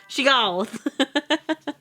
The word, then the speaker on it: Shiggoth: Shiggoth. Sorry, listen. That's how you say the word.